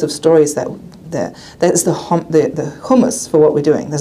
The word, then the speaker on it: humus: Humus as in earth. I'm German, so I sometimes pronounce things weird. Is that the right way of pronouncing it? Hummus. Yeah, good. It's not hummus, I know.